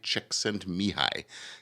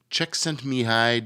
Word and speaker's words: Csikszentmihalyi: Mihai Csikszentmihalyi is how they pronounce it, I guess.